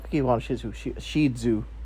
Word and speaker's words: Shih Tzu: Shih Tzu. That's how this actually pronounced. Shih Tzu.